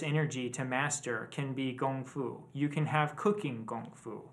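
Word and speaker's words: 功夫: no such thing as comfo okay it's it's pronounced gongfu and it it doesn't matter how we spell the character using our letters it doesn't change the Chinese pronunciation right or the Chinese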